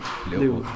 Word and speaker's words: Leul: My name is Leul. Once again? Leul. Leul. Yeah. Do I pronounce it well? Yeah. You're right.